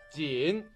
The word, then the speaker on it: 锦: 在这里金还有表示读音的作用，锦，金银锦，锦缎的锦，锦。